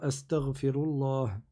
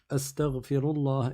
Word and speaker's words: Astaghfirullah: Rabbi ghfirli, ou bien Astaghfirullah. Astaghfirullah, et tu fais attention à bien le prononcer. Tu dis pas astaghfirullah avec un kha, mais tu le dis avec un ghayn, astaghfirullah, et ainsi de suite.